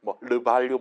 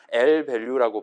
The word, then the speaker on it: lvalue: 그래서 LVALUE, 르발류 이런 식으로 프랑스어처럼 읽는 게 아니라 L밸류라고 발음하시면 될 것 같아요.